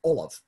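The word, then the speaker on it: ollamh: In fact, at some point I want to register a alternate title for master of the laurel as Olav, O-L-L-A-V-H, which is the modern Irish word for a professor.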